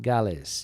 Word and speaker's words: Gales: Gales, I think is that how they pronounce it? Gales, yes.